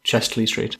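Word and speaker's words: Chester-le-Street: It's a town, but it's called Chesley Street. It's spelt Chester Le Street. Ah, yes. Chester, the street, French. Yeah. But we all say Chesley Street. Twice as confusing as you could be.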